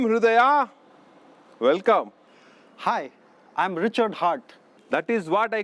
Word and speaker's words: Hart: Well, actually, my name is H-A-R-T, Hart. Yes. In that, the E is silent and invisible.